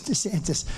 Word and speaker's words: DeSantis: the governor of Florida Ron DeSantis they said no no no it's D santis that's good branding right